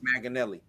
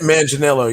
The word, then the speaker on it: Manganiello: Oh, Maganelli. yeah. Maganelli. Um, yeah. Oh gosh. Is it Joe Joe Maganelli? Yeah, Manganiello. Yeah.